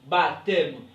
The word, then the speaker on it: baptême: OK puis ici dans le mot baptême ne se prononce pas on dit baptême on dit dompter P